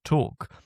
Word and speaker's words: talk: medieval early modern period the L at this point is basically part of the vowel it drops out or it becomes increasingly inaudible and eventually you end up with my English pronunciation of walk and talk. Take out the L, you get whack and tack.